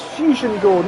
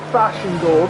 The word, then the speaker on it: Fusion Gold: Ah, it is Fusion Gold, not Fashion Gold.